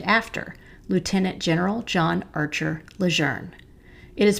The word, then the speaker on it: Leger: the camp was originally called Leger when he was at boot camp, but over time it became pronounced the other way because of how it's spelled.